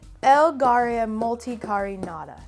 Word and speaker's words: Elgaria multicarinata: Elgaria multicarinata.